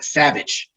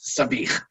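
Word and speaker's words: sabich: have heard of it sometimes called savage but it's actually pronounced sabih and what is inside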